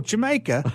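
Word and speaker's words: D'yer Mak'er: How do you pronounce it? He goes, oh, Jamaica.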